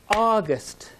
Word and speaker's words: August: all right let's try august did you hear the stress on the first part of the word august listen carefully to this